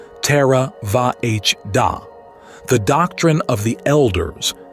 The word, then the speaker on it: Theravāda: Buddhism: The Great Contributions of the Buddha Theravada (pronounced — more or less — "terra-VAH-dah"), the "Doctrine of the Elders," is the school